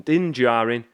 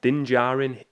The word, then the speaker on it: Din Djarin: I always feel like I'm going to butcher that name, but I think that is the correct pronunciation. Din Djarin.